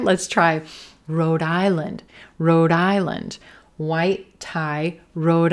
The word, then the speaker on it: Rhode Island: Again, we're going to stress the second word here, island, and that white tie vowel sound. Island, island, lind, lind, island, Rhode Island. Do you hear how my voice continues that D sound at the end of road right on into the beginning of island?